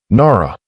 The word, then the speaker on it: Nara: Nara, she said. Edmund Caswell repeated it. Correctly. Both syllables, the weight distributed properly, the way her mother had said it.